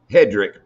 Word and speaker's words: Hedrick: Hedrick.